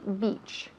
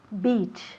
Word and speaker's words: beach: on the beach okay and repeat after me beach beach muy bien again beach perfect excellent annette has wonderful pronunciation so repeat after me beach beach okay